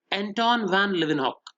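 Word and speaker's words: Antonie van Leeuwenhoek: नाम था बच्चों एंटोन वैन लिवेनहॉक। एंटोन वैन ल्यूवेनहॉक, spelling ध्यान से गौर करेंगे, ल्यू LWU, फिर वैन WENHOEK, एंटोन वैन लिवेनहॉक।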